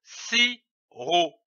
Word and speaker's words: sirop: L'association de ces deux syllabes donne le mot sirop. On ne prononce pas le P, comme ici du sirop.